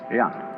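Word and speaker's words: jen: In Confucius philosophy, the fundamental virtue of a human being is called Ren, spelled J-E-N, for reasons best known to Chinese scholars. I don't know what they are, but it's pronounced Ren.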